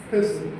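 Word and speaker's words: pestle: pessim e S l e but it is pronounced as pessle e h s l is so this is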